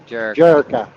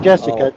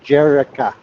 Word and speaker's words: Jerica: Jerica. Not Jessica, Jerica.